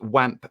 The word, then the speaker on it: OAM: california by believable audio oam pronounced wamp apparently supplies guitarists with